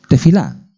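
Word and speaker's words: תפילה: crónicas era oración la palabra es de fila de fila se pronuncia así y significa oración significa intercesión intercesión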